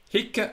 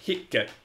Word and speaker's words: hic: If you look in the Latin dictionary, the one that's used for writing poetry, you will notice that it has a long syllable, which is given in the Latin poetry dictionaries by a little line over the I.